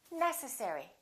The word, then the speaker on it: necessary: you say this one is it necessary necessary or necessary it's the first one necessary let's do the last